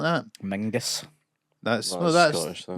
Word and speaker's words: Menzies: So actually, John Menzies is John Mingus. Yeah. I didn't realise that until I was in my mid-20s.